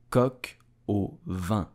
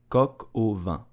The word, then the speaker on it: coq au vin: So to pronounce it correctly, you will say coq au vin, coq au vin, coq au vin.